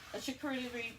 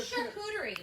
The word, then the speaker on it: charcuterie: It could be a charcuterie. I said it wrong. Ooh, charcuterie.